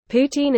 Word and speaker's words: poutine: Poutine and Poutine are pronounced the same in Quebec French.